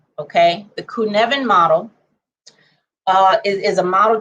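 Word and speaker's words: Cynefin: we'll look this up okay it looks like cynofin but it's pronounced kunevin okay the kunevin model uh is a model that talks about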